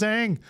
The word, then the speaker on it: Aang: Everybody hated that it was Ong, and they did. Wait, we just spent the whole thing. It was Aang, the whole thing, and we're just gonna make a movie and pronounce it different.